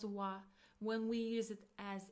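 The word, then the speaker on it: は: So when we use it as a particle we pronounce it as wa.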